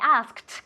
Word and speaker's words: asked: I asked con una T.